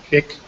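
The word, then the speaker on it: Climate-KIC: at the climate and is it AIC or do we pronounce it kick kick climate kick it's the at least that's what they say Europe's largest public-private Innovation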